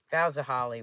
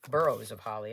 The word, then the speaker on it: Boughs of Holly: Why I was putting an R in it and calling it burrows of holly, I don't know.